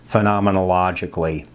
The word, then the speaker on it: phenomenologically: to say that here's how to say it phenomenologically okay so this is going to have to